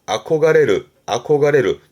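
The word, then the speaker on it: 憧れる: 발음은 노게. 동경의 동이라 보여드린 겁니다만 시험 때는 주로 동경하다 아코가레르 동사로 잊지 마시고요.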